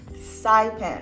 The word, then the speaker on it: Saipan: Am I pronouncing that correctly? It's Saipan.